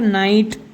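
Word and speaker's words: night: तो ये आई आया, उसके बाद क्या आ गया GHT, तो GH उसमें साइलेंट रहेंगे और T को इसमें पढ़ेंगे, तो हो जाएगा फाइट, हो जाएगा नाइट, हो जाएगा राइट, हो जाएगा लाइट, हो जाएगा माइट, और ये हो जाएगा टाइट।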